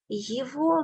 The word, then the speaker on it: его: We write G here. Exception is here. We pronounce as V. Say with me. Его. Его. Его. Okay? Его. Not его. We write его, but pronounce его.